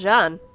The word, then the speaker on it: Jean: notable ones are seeing Jean Marie that was pronounced John yeah again he's from